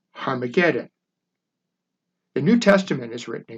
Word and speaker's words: Armageddon: This is the origin of the New Testament name of Armageddon, correctly pronounced in Greek as Harmageddon.